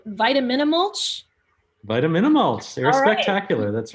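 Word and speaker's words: Vitaminamulch: a short film that I always have trouble pronouncing, Vitaminimulch. Vitaminimulch, Air Spectacular, that's right.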